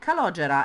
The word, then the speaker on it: Calogera: uh actually they say calogera it's an italian name and it's pronounced calogera and it's a horrible